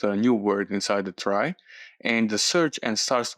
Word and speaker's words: trie: Tre basically a try pronounced as try is a or prefix